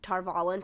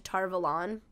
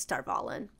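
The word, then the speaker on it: Tarvalon: of tarvallen oh yeah they've also changed the pronunciation of tarvallen to tarvalan it's star volun yeah um that was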